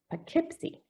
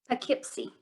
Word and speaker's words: Poughkeepsie: Okay, so what we're going to do is we're going to put these together and say it like this, Poughkeepsie. Poughkeepsie.